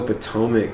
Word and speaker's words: Potomac: It's like, oh, Potomac, Maryland.